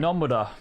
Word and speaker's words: Nomura: Nomura has, or Nomura, I guess is the right way to say it. Nomura.